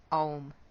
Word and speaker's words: Om: The syllable is composed of 3 sounds, A, U, M, Om.